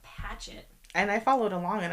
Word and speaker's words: Patchett: See, I was saying it wrong. Not Pratchett, but Patchett.